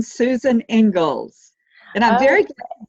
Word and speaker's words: Inglis: eco method interiors and today's guest is susan inglis did i pronounce that last name correctly susan it's actually ingles it's a surprising pronunciation susan ingles and i'm very glad to be here with